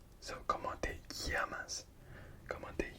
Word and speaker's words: llamas: So in Spanish, the double L, it's not pronounced L, it's Y. So ¿cómo te llamas? ¿Cómo te llamas?